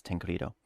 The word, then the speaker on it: Tancredo: looked up the pronunciation of it because I've never seen that before, and it's Tancredo.